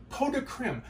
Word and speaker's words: pot de crème: All right, pot de crème. That's how it's pronounced.